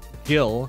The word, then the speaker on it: Gil: Whenever I see just Gil, G-I-L, I'll go with the hard G. Like the money in the newer Final Fantasy games, not that I play those.